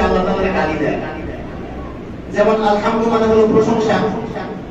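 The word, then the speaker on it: الحمد لله: আর যদি এটা হা দিয়ে বলেন, গোল হা দিয়ে, কারণ সবাই তো হা উচ্চারণ করতে পারে না, ঠিক না, চাপ দিয়ে যেটা আছে বলতে হয়, যেটাকে বলা হয় ছোট হা।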